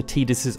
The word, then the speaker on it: Tidus: to say that yes, I will be pronouncing his name as Tidus throughout this video. We did a poll recently, and although Tidus actually won the majority vote, because it's very much the official way now, with him even being